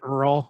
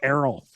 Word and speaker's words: Errol: I said Earl. Never say Earl to him. Never, ever, ever, ever say Earl to him. It's Errol.